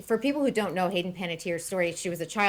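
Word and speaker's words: Hayden Panettiere: Hayden Paniter.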